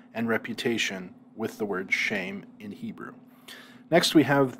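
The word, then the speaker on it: שֵׁם: we have here is shame it sounds just like the english word shame it's the word for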